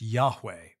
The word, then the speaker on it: Yahweh: Hebrew letters that we translate as YH wh pronounced Yahweh this is the sacred name of the one